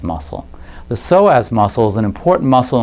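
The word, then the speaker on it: psoas: thing that we'll do is we'll check the soaz muscle the soaz muscle is an important muscle in the spine it's spelled PS OAS and it's a spinal muscle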